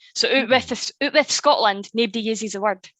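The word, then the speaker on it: outwith: So instead of saying outside of, you would say out with or out with if you're pronouncing it right. So out with Scotland, nobody uses the word.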